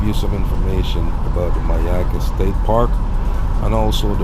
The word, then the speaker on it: Myakka: Myakka Forest Reserve, and that's the Myakka, and it's spelled M-Y-A-K-K-A.